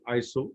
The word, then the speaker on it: ISO: international organization for standardization we pronounced it as iso in 1987.